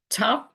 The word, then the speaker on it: Tav: Tav usually is pronounced T, as if it's got a dot, a dagesh in it.